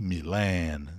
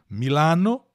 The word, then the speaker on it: Milan: uma expressão vários então o milan e milena duas pronúncias possíveis a tônica sempre no no na última sílaba milano em italiano em milão em português tá em inglês milan então milena esse milena